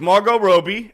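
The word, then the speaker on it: Margot Robbie: yeah Mar Margaret Roby what did I say marot Robbie or Roby you said you said Roby okay that's the correct way to say it was not not Maro Rob it's Margot Roby and it's jeva Margaret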